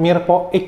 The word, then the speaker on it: mirepoix: Tulisannya mirepoix pakai X, tapi bacanya mirepoix gitu kan.